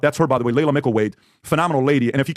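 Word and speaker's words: Laila Mickelwait: I had this girl here the other day, Layla Mickelweight.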